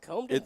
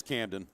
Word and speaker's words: Camden: the name I think it's pronounced comden Powers it's Camden Camden okay yeah and that